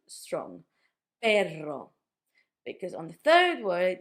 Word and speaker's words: perro: You would try to make that r a bit harder with perro when you mean a dog than when you mean pero.